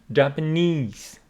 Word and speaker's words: Japanese: visit the Japanese Japan Japanese the third syllable stress Gardens and see about